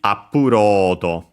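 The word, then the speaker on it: アップロード: The full word would be appurodo. By the way, accented on ro, on the load, so actually just like in English, upload.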